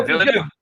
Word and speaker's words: Villeneuve: And what Denis Villeneuve, and I'm sure I mispronounced his name. That sounded about right. That sounded good. Yeah, Villeneuve.